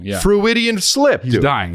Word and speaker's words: Freudian: Freudian, like Sigmund fucking Freud. I know Sigmund Freud, That's where it comes from.